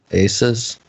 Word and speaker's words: ASUS: know it's pronounced ASUS ASUS just sounds like you're saying Jesus but yeah the ASUS